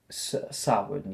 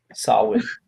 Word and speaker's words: Samhain: Far too old to be celebrating Samhain yet. I had to recall the pronunciation. Well, People we're got on me. Jess got on me about Sam Hain. Samhain.